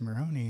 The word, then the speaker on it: Moroni: couple of times, but there's a prophet in our sacred scripture called Moroni, but I've heard it pronounced in certain cultures Moroni.